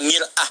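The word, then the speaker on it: مرآة: Ya, kalimatnya sama, cuma cara bacanya beda. Al-mar'atu kal mir'ah, yang satu pakai fathah, yang satu pakai kasrah.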